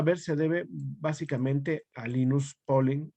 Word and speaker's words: Linus Pauling: se debe básicamente a linus pauling lines polling cómo se pronuncia de generalmente linus pauling si lo pronunciamos en español ambas formas son correctas más conocida como modelo